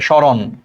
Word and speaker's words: স্মরণ: এই জন্য দেখো স্মরণ, উচ্চারণটা এরকম হবে, স্মরণ।